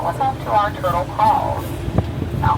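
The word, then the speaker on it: kraal: home to our turtle calls. Now, call is spelled K-R-A-A-L, and that is a Dutch African term which means pen or corral.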